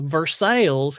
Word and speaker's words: Versailles: I hate that we call it Versailles, when I know that's not how you pronounce it.